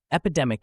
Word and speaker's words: epidemic: three discussions on societal issues let's start with pronunciation epidemic is pronounced as EP DMI break it down